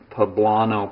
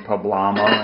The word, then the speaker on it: poblano: and look that's a poblano pepper okay bread are you ready to taste this amazing i learned the pronunciation of that too i was saying pablama in a video the other day that's silly okay here's